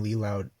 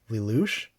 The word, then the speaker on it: Lelouch: But it's like a harem starring friggin' Lee Loud. No, not Lee Loud. Lelouch? I don't know how to pronounce his name. Lelouch from Code Geass. I know it's not Lee Loud. That sounds ridiculous.